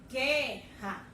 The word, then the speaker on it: guerra: Na palavrinha guerra, eu ouço mais o som de quem? Do G e do E. Então, o U eu não ouço quando eu pronuncio.